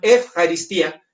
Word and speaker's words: eucaristía: ejaristía, algunos ya saben, es eu, se escribe, pero el diptongo griego obliga la pronunciación efaristía.